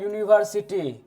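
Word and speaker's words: university: इसमें एन लगेगा देखिए दूसरा है यूनिवर्सिटी इसमें तो वोवेल है पहला लेटर यू जो है वोवेल है इसमें हम लगा देते हैं ए एन लगा दे नहीं क्योंकि इसका उच्चारण स्थान व्यंजन से होता है होता है कि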